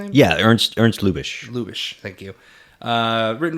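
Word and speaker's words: Lubitsch: Uh is that how you pronounce his last name? Yeah, Ernst. Erns Lubish.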